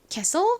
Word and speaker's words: castle: castle 적어보세요. 확인해 볼게요. 먼저 C-A, so, S, 묵음인 T, L, 떨거지 E, STLE, so 발음 납니다.